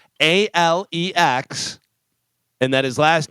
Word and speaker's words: Alex: Listen, if you're spelling it al X, it's Alex, not Alec.